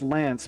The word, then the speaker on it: BSB: And BSB is pronounced Lance, but is spelled BSB.